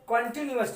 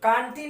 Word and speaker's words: continuous: सुन लीजिए, present कंटिन्यूअस tense, कांटी नहीं, कंटिन्यूअस tense, ठीक है।